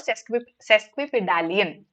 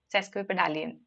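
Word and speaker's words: sesquipedalian: I want you to give me the synonym or in fact the meaning of this word cesque pedallion. Okay, that's how we pronounce it. Cesquip pedallion.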